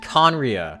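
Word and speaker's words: Khaenri'ah: ancient nation that was destroyed 500 years ago conria so that's how you pronounce it conriya i've been wondering how to pronounce it for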